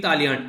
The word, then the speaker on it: Talyan: तो यहाँ पर बेसिकली तालियान बोला जाता है। ठीक है, तो कई सारे लोग इसको अलग अलग लेवल में इसको अलग अलग तरीके से बोलते हैं।